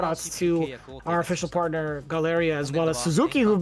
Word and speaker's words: Galeria: Galeria is how they pronounce it, right? I always think Galleria, but Galeria is the it's the real deal, honestly.